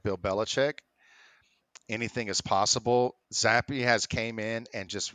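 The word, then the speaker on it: Zappe: Is it Zap or Zappy? I think so. I think it's Zappy.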